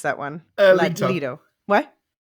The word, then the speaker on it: Leto: So, Duke Leto, how do you pronounce that one? Leto. What? Leto.